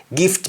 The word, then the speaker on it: gif: When spoken in Jamaican, you don't pronounce the T at the end. You stop at F.